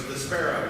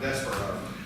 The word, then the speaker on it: Despero: it's called for forever I thought it was despo not despero so I don't we